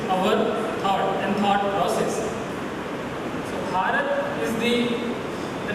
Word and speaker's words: Bharat: The connection that we feel comes through the name, which is correctly pronounced as Bharatam or Bharat.